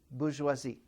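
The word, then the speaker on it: bourgeoisie: What's the proper pronunciation? Bajoisi. Okay.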